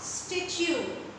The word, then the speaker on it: statue: Listen students, there are two different T's here and they have different pronunciation. The first T says T, but the second T says Ch.